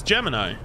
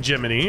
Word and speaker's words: Gemini: saying gemin as Gemini it's Gemini I'm not saying geminy I'm saying Gemini elisian Boulevard was a